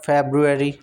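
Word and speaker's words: February: Wednesday, Wednesday बोलना गलत है, वेंसडे होता है, वेंसडे, ठीक है, इसमें डी साइलेंट होता है, वेंसडे, वेंसडे। इसके बाद फेब्रुअरी, फेब्रुअरी नहीं बोलते हैं, फेब्रुअरी, फेब्रुअरी, फेब्रुअरी, first are often silent, फेब्रुअरी, फेब्रुअरी होता है, फेब्रुअरी, फेब्रुअरी, ठीक है।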